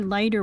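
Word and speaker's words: leiter: Now and then again we passed a leader wagon. Letter wagon leader letter I would say let later but lighter. Oh it's rhymes with lighter. Past a lighter wagon, the ordinary peasants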